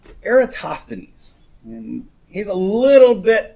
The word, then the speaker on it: Eratosthenes: his time um is a guy named it's pronounced eratosthenes and he's a little bit after aristarchist time